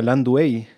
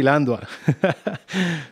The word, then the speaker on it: Landua: Yo siempre te he dicho Landua, pero últimamente escucho que se pronuncia Landuey. Sí, pero los nombres en español hay que pronunciarlo en español nomás. Ah, bueno, entonces Landua.